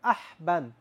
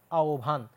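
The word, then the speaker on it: আহ্বান: যদি অথবা আ থাকে তখনই হ এর উচ্চারণ হয় ও এর মতো আর ব টা হয়ে যায় ভ এর মতো এজন্য তোমার কি হইছে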